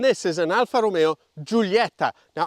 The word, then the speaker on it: Giulietta: is an Alfa Romeo Julieta now I am going to pronounce it the Italian way rather than the English because Julieta just sounds just doesn't sound as good it typifies Alfa Romeo's